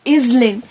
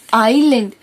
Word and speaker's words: island: For example, you read island. It is not island, it is island because the letter S is silent.